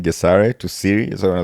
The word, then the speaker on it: Gesare: most people butcher the name, and I understand because, say, the North Americans do not have the pronunciation Okay. in the English Okay. pronunciation. They don't have the so they cannot say so they say j. Okay. Jessa.